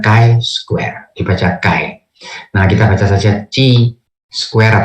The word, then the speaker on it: chi-square: chi-square Nia logie dalam di dalam bahasa Inggris perang mengatakan Kai Square ibadah Kai kita saja